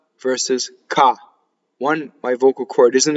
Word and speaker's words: che: K, the word K, C-H-E, is hard because of the H. E is a soft vowel, so C-E would be che. So you need the H to make it hard.